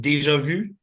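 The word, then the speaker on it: déjà vu: ja all right so we French folks uh have this expression that's called Deja Vu or you may have heard it pronounced Deja Vu well we're gonna have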